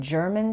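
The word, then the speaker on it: Jermyn: Um he established his store at 89 German Street. Uh that's spelled J E R M Y N.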